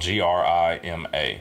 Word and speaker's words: Grima: And I think it would just, it's their name is spelled G-R-I-M-A. So I would just pronounce it Grima, you know.